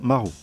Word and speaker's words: Maru: avons la plume Maru en japonais on prononce Marou elle est plutôt raide